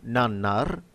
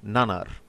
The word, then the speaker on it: nannar: If you imagine a space between nan and nar, you will in fact almost always pronounce it exactly as you should. So, nan-nar instead of nanar.